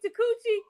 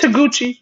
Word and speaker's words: Taguchi: ring name Takuchi? Yeah, it's Taguchi.